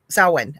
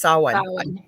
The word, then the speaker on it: Samhain: winter solstice celebration, and Samhain. I probably don't say that right. Samhain. Actually, it's Samhain. I completely blanked until I just went, no, that's not how you say it. Samhain.